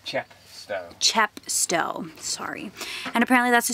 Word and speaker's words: Chepstow: day bag and we're going to go enjoy chesto is it chest or am i saying it right yeah chepstow sorry and apparently that's a super cute little